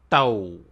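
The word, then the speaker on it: ತೌ: T plus au gets you tau, and the way you pronounce tau is like t-o-w in town, town, town.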